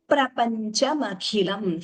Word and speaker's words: प्रपञ्चमखिलम्: the pronunciation srijasi srijasi prapanchamakhilam. Here dvitvam, the p is doubling, srijasi prapanchamakhilam.